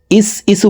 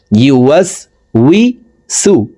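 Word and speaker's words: يُوَسْوِسُ: ওয়াসওয়াসিল মিশারিল ওসওয়াল এখানে মধ্যে আরজি এই ননকে তিন আলিফ সাকিন করে ফেলবল আললাজি এখানে আমরা অনেকেই ম্যাক্সিমাম মানুষই এখানে ভুল করে থাকি ইসু পড়ে থাকি ইসু হবে না ইউ ইয়া পেশ ইউ জিহ্বার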